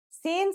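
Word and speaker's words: س: let's start with scene scene sounds just like the English s it's very easy to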